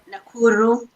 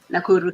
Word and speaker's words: Nakuru: So how do you pronounce the Nakuru? Nakuru, Kenya. Nakuru, Kenya.